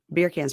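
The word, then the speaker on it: Birkan: Beer can's pretty good. I had to write down beer can to remember how to say it because again, it looked like Birkin.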